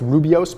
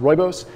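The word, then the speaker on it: rooibos: pumpkin spice roibos yes i know it looks like it's rubios but it's pronounced roibos nothing too fancy here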